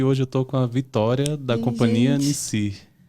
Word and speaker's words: Victória: nome Vitória ou Victória bom se escreve Victória sem assento né então fica Victoria mas se fala Vitória aí tem vários apelidos